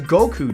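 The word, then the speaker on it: 五: In Japan, May 9th is officially recognized by the Japanese Anniversary Association as Goku Day. Made because in Japanese the number 5 is pronounced go and the number 9 is pronounced ku.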